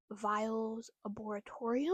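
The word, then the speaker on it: Viles Arboretum: We went to the Viles Arboretorium, I think is how it's pronounced, in Augusta.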